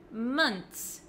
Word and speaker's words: months: TS at the end I don't pronounce the h months months make sure you don't pronounce the O in months like an O Okay so as you